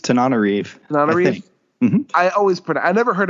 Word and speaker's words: Tananarive: discussing Patient Zero by Tananarive Due with Eric Raglin. I think I pronounced her name wrong. I think it's Tananarive.